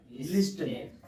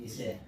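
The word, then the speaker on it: listen: main कितना है लिसन अब देखिए एल आई एस टी इ एन लिस्टेन क्या लिखा हुआ है लिस्टेन तो उच्चारण भी सही होना चाहिए लिसन पढ़ते हैं इसको क्या पढ़ते हैं लिसन और ये सब सही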